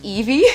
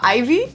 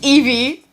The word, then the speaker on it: Ivee: First of all, my name is pronounced Evie, not Ivy. I know a lot of people are like, "Oh, it's Ivy." I'm like, close. It's Evie. So kind of like the Pokemon, the more you know.